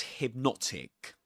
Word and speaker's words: hypnotic: Hypnotic was hypnotic. The stressed syllable in the word hypnotic is the second syllable.